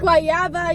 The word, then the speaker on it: guayaba: pastelitos de guayaba. Guayaba Y y queso.